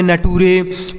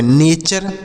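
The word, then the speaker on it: nature: तो यह हो गया नेचर। इसका सही प्रोनाउंसिएशन क्या होगा, नेचर होगा। ना तो इसको नटूरे पढ़ना है, ना तो आपको नेटर पढ़ना है, इसको आपको नेचर पढ़ना है, यानी TURE को चर पढ़ेंगे।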